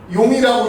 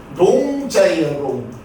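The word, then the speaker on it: 聾: 귀하고 관계되는 글자예요 그래서 이건 잘못 읽으면 용이라고 읽게 될 수가 있습니다 근데 이거는 용차가 아니고 밑에 귀가 있으니까 귀머거리용입니다 귀머거리 농자예요 그래서 우리가 일반적으로 일할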